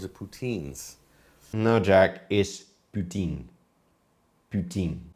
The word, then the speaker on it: poutine: or pu or Putin unbelievable it's ptin see what the pronunciation is no puton is ptin not puton puton is a swear